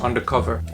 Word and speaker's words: Ondercover: So I kind of adopted Ondercover as my name, but I wanted people to pronounce it as undercover.